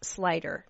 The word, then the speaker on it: Sluyter: say that Dean but it's actually pronounced slider Dean slider is with us today